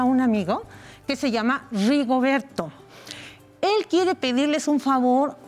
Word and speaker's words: Rigoberto: Se escribe con R. Con R de Rigoberto. Con esa L. ¿Sí la ven? Ahí está, pegada. Que cuando la escribes al principio de la palabra, suena como una rrr, rrr.